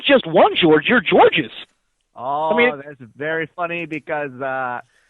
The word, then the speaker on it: Georges: First thing I tell you, in Canada, the S is silent. Oh, okay. Got it. Okay, silent. very important. Just like the E in silent.